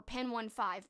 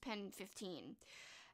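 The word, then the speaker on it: PEN15: 2020 and that is pen 15 or pen one five but i think it's pronounced pen 15.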